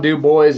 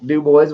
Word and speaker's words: Dubois: So, Joel, there's a town in Wyoming that is spelled like that. But it's Wyoming, so it's Dubois. It's Dubois, Wyoming.